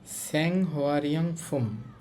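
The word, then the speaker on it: 생활용품: লেখা আছে স্যাং হোয়ারিয়াং ফুম। আমি যদি উচ্চারণটা একটু লিখে দেই, যারা নতুন আছেন আপনাদের বুঝতে সুবিধা হবে। স্যাং হোয়া আর এই রিউল বাচ্ছিমের কারণে উপরে চলে যাবে। স্যাং হোয়া রিয়ং ফুম, স্যাং হোয়া রিয়ং ফুম।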